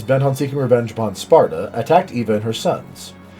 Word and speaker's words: Sparda: That's Sparda with a D, not a T. I'm not just saying it wrong.